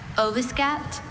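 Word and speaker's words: oviscapt: Ovascapt? Ovascapt. Can you repeat the alternates, please? There's no alternate pronunciation, just ovascapt.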